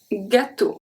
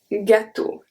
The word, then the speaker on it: gâteau: So if G is followed by A, O, or U, it's going to stay a hard G. We have un gâteau, un gâteau, gâteau, un gorille, un gorille.